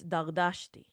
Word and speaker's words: Dardashti: I'm talking to Iranians, it's Dardashti. That's how I pronounce it because that's how people kind of can understand it.